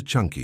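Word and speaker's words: chunkey: Welcome to Chunky, yes Chunky. Pronounced just like the soup aisle at your grocery store, but with much higher stakes.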